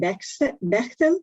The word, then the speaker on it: Bechtel: And our speaker is Bechtel. Did I pronounce it well?